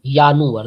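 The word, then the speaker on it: Januar: to repeat with me the first one इज यानुअर the sound of जे इज़ यट वाई सो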